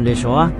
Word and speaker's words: Yeshua: Pada abad pertama, Judea dan Galilea, nama Yeshua diucapkan dengan ucapan Yeshua, sangat umum, dan berbagi tempat kelima dengan El-Azar atau Lazarus dalam popularitas sebagai nama untuk pria Yahudi.